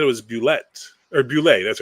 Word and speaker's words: Bulette: which sadly, even though he made up the word, it is spelled like a French word, so Bulle. But we were corrected I was corrected point blanketly by its creator that it's Bulette.